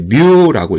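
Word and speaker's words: μ: 자, 우리는 이것을 뮤라고 읽습니다. 뮤.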